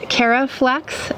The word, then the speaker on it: Caraflex: That one is the Caraflex F1. So it's very similar to my name only it's spelled with a C instead of a K. So it's the Caraflex F1 and that one is 75 days.